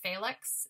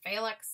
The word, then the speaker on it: Felix: the baron's name right felix instead of felix it's felix it's the german pronunciation um he's the only